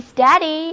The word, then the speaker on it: steady: y，那么单词 steady,s-t-e-a-d-y,steady,稳稳地站着，所以单词 steady 就是表示稳定的、平稳的。字母组合 ea 在这里读作 a，单词就读作 steady，表示平稳的。He is making a steady improvement. He is making a steady improvement，就是他在稳定地进步着。Steady 用作动词，就是使什么稳定。例如，我们要稳定物价，就是 We must steady the price.